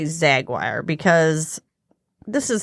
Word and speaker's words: Yzaguirre: Yeah, it's a Zaguire. We're going to use that Y silently, as it should be.